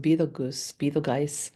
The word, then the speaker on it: Betelgeuse: astronomers, that they're expecting the supernova Betelgeuse, also pronounced Betelgeuse, right? It's but like the movie, it's spelled like the movie Beetlejuice, the famous movie.